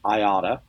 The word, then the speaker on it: IATA: I works with this group, International Air Transport Association, the acronym IATA, we usually pronounce IATA.